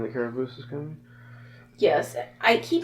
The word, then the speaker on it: Carabosse: You like what when Lilac was saying the Caraboose is coming? Yes. I keep meaning to look up and make sure we're pronouncing that name correctly. Carabosse.